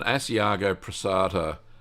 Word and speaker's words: Asiago Pressato: There's an Asiago Pressato, that's how you say it.